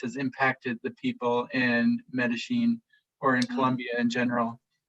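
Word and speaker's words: Medellín: aspects of Colombian culture around, I hope I'm pronouncing this right, Medellin?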